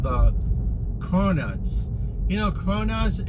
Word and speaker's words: cronuts: they have different flavors cronuts not Donuts cronuts it's two syllables right crow like and